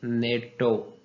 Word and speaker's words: NATO: जैसे नेटो, तो ये हम नेटो पढ़ते हैं, NATO नहीं पढ़ते। अगर हम इसको NATO पढ़ते तो ये एब्रीविएशन होती, लेकिन अब हम इसको एज अ वर्ड प्रोनाउंस करते हैं, नेटो कहते हैं, इसलिए ये एक्रोनिम है।